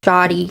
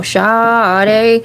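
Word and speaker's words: shotty: So I had to look up, you know, when you hear it, it's like shoddy, okay, and I was thinking, you know, shoddy, but it's not. It's spelled S-H-O-T-T-Y, and they're referring to riding shotgun.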